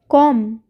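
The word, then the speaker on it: comb: कॉम, कॉम में भी बी का साउंड नहीं आएगा।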